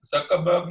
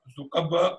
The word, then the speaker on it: Zuckerberg: For example, it's Zuckerberg, not Zuckerberg. It's peculiar.